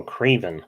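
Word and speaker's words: Kraven: Cavern the Hunter? Oh, Craven. Craven, Cavern.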